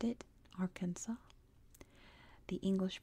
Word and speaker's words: Arkansas: the French pronounced it Arkansas the English pronounced it Kansas and that's why we have those names Arkansas is spilled with an S at the end silent s because it comes from